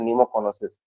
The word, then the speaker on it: pneumoconiosis: न्यूमोकोनोसिस। That word is called PNEUMOCONIOSIS, न्यूमोकोनोसिस उसको बोलते हैं हम लोग।